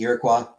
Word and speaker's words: Iroquois: We always pronounce it Iroquois as Iroquois. Iroquois. Pretty sure it is supposed to be Iroquois. AMC. We're Midwestern, we pronounce everything wrong. It actually is the Iroquois.